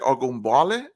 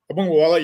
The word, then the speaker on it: Ogunbowale: You mentioned you pronounced the running back's name. What was it? Ogunbowale? Ogunbowale, yeah.